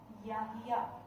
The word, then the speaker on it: Yahya: The word pronounced as Yahya.